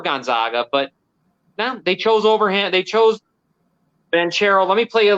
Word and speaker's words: Banchero: Banchero?